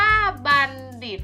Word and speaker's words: บัณฑิต: อิ อิ โต ดิษฐ์ อ่าน ว่า บัณฑิต นัก เรียน ที่ เห็น ก็ เรา มัน โทร ไหม คะ รอบ นี้ อ่าน ออก เสียง เหมือน ตัว เด็ก เลย ซ้ำ อ่ะ ผ่าน